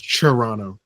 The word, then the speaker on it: Toronto: are the ones uh if you're Canadians pronounce chono like with a CH seriously that that how